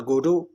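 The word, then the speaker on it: Godot: सो इसको गोडोट नहीं कहा जाता, इसमें टी साइलेंट है. सो इट is waiting for गोडो है.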